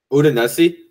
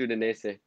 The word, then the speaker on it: Udinese: Udinese? Yeah, I think it's Udinese. Udinese. Yeah. My bad. All right, clown me next Udinese.